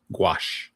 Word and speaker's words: gouache: acrylic, and you say, is that gaus? Is that how you pronounce that? Gouache. Gouache. Thank you very much.